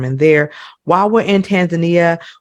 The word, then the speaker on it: Tanzania: there while we're in Tanzania we or Tanzania at the locals say at Tanzania um we'll visit with